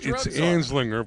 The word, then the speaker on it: Anslinger: getting warmer hasslinger hasslinger it was hard to pronounce but first that's good you got it it's anslinger but we like asinger yeah aslinger all right